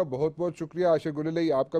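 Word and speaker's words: گلالئی: की तस कर दूं अक्सर मीडिया पर गुलेल कहा जाता है यह गुलाल है मेरा नाम आयशा गुलाल है अच्छा और इसको गलत तरीके से प्रोनाउंस किया जाता है ठीक है जी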